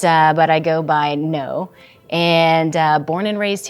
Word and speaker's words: Ngo: so I'm no and last name is NG o uh and it's a Vietnamese background it's typically pronounced no but uh but I go by no and uh born and